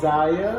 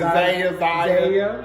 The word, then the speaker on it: Zaya: has come out and said that he now wants to be called Zaya. I can't pronounce it. Zaya.